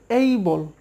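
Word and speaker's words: able: অ্যাবল, I will বি অ্যাবল টু গো, আমি সেখানে যেতে পারবো মানে সক্ষম হব, অ্যাবল না এটা হবে এই বল, এই বল, এ যেখানে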